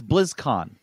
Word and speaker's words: BlizzCon: it's very clever but when you say it blizzcon line first of all you've ruined your brand because it's blizzcon right that's how you say it blizzcon now you're saying blizzcon line you've moved where the emphasis on the word it doesn't sound the same it sounds awkward it's awkward to say it's awkward to hear